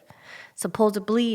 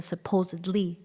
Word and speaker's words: supposedly: because where I live supposably is easier to say the supposedly with the D so she's like I